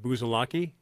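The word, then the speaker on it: Buzalacchi: Now, I knew a Buzalaki, Buzalacci, when I grew up. Pronounced Buzalaki. Because you got CH.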